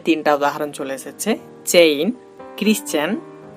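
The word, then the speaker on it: Christian: দেখুন আমাদের স্ক্রিনে 3টা উদাহরণ চলে এসেছে, চেইন, ক্রিশ্চিয়ান, মেশিন। তো দেখুন এখানে আমরা CH পাচ্ছি কিন্তু এখানে তার উচ্চারণটা হচ্ছে চ এর মতো। এখানেও দেখুন আমরা CH পাচ্ছি কিন্তু এখানে তার উচ্চারণটা হচ্ছে ক এর মতো।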